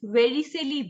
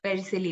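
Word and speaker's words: Vercelli: e-x-e-t-e-r exceeder book and the third one is very silly book v-e-r-i-c-e-l-l-i book perisilly book and the fourth one is novel codex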